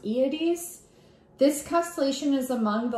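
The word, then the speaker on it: Hyades: another great open cluster named Heidi's but I think it's pronounced iities this constellation is among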